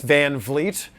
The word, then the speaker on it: VanVleet: about me people are still mispronouncing my last name it's vanvleet uh dolph knows come on